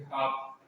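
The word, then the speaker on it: half: ठीक, अगला वाला देखो, एफ से पहले एल हो, एफ से पहले एल हो तो प्राय एल साइलेंट रहता है। हम जैसे कि हाफ, जैसे क्या कहते हैं हाफ, एल नहीं आता इसमें, हाफ ऐसे बोलते हैं।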